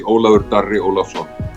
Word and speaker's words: Ólafur Darri Ólafsson: Uh, if I were to do it in proper Icelandic pronunciation, it would be Ólafur Darri Ólafsson.